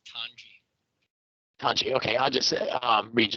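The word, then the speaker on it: Tonge: Tongi? How do you pronounce that? Tanji, sir. T-O-N-G-E, it's Tanji.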